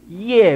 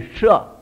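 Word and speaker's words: 葉: 那个舍，叶不念叶，客家话都会念成变成叶字，这里不念叶，念舍，舍。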